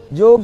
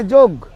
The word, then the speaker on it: योग: बोले देखो हमारे भारतवर्ष में योग, हम लोग योग प्रोसेस है, योगा थोड़ी हम लोग कहते हैं, हम लोग क्या बोलते हैं, योग कहते हैं, योग प्रोसेस है।